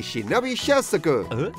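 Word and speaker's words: shinobi shozoku: That's the ninja suit jacket, aka a shinobi shosoku!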